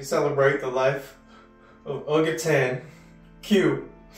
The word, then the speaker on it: Que: winningest buldog and while your name is pronounced Q Q's name is spelled like the Spanish word K meaning what but what we should